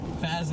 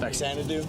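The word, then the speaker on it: Faxanadu: Stuffed Mario Kid, Dragon Spirit, Captain Skyhawk, Marvel Madness, and Fazadoo. I don't even know how to pronounce that. Faxanadoo.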